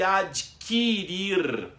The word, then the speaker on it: adquirir: Não se deve dizer adquirir. O U não é pronunciado.